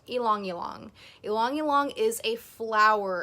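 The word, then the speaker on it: ylang-ylang: People call it ylang ylang. It's actually pronounced ylang ylang.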